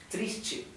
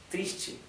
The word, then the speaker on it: triste: acord un poco TR Recuerden que la t con la e se pronuncia como si fuera h e Che triste triste bien Oye es hoy